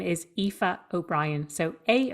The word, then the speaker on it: Aoife: how to pronounce it it's spelled aoi f and it's pronounced epha and my full name is epha O'Brien so a o